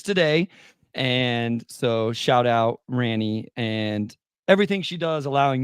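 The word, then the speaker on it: Rani: So yeah, shout out to Ranny. Sorry. Good Lord. Yeah. It's a weird name. Everybody, R-A-N-I. People pronounce it wrong if they've never heard it.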